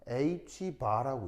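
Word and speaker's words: ħ: 하나가음 이게 보이시지요 자 읽을 때 어떻게 읽냐 h 바라고 읽습니다 뭐라고 읽는다고 바라고 읽어요 그러면이는 다른말 로 어떤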